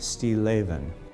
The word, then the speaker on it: Stilleven: and it means still life and it's actually pronounced steel avin we decided to begin to kind of look